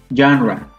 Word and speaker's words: genre: It's a little strange, but yes, it is genre.